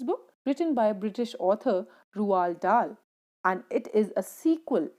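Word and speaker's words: Roald Dahl: how his name is pronounced d of rwaal is silent so rual dal was a british novelist short story writer poet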